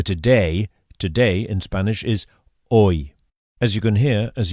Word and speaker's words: hoy: The word for today, today in Spanish is hoy. As you can hear, as usual, the H is silent. Hoy.